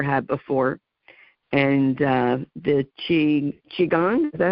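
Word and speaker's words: qigong: And uh the chi Chiang, is that how you pronounce it?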